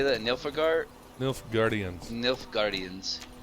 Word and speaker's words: Nilfgaardians: Nilfgaardians. Nilfgaardians. Think like Asgardians, but Nilf instead of As.